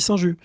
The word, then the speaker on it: Saint-Just: On dit Saint-Just.